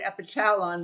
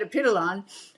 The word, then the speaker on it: Epitalon: So which way is the right way? Well, there's no right way. It's just, it's that tomato kind of thing.